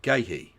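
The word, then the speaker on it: Guéhi: Mark Gahhee. That is how that's pronounced. spelled gu u e h i with an accent over the e, which is very weird, but we'll get to it. Anyway, Mark Ghee, a fine central defender in his own right,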